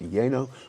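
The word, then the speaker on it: lleno: or you can say yeno uh that's l l n o which is pronounced yeno which means you want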